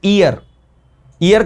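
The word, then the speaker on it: heir: हैं ये इसको प्रोनाउंस हम लोग इसमें ह को नहीं करते भाई ये ह यहां पर साइलेंट है it will be pronounce ईयर का मतलब होता सक्सेसर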